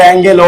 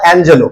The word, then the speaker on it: Angelou: অনেকে বলে অ্যাঙ্গেলো বা সেই, উচ্চারণ হচ্ছে মায়া অ্যাঞ্জেলো।